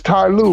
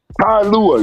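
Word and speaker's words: Ty Lue: it even got rust it's Ty Lou Bro Look remember when I said it wrong ticket Channel bro I said hi Lua dirty basket we got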